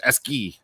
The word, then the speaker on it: ASCII: hammering me they're like it's actually not ascii it's esky and like it's so funny how people pronounce it in different areas and but the cool